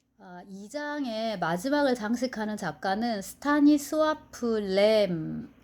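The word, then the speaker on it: Stanisław: 2장의 마지막을 장식하는 작가는 스타니스와프 램입니다. 저는 스타니슬라프라고 읽고 싶어지는데 그 폴란드 작가더라고요.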